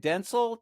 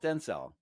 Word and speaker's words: Dentzel: I pronouncing that right denel denel first accent is on the first syllable washhington has ruined it